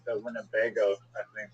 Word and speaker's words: Winnebago: Just the I the word winnebago is like funny. It's win. It's four um syllables.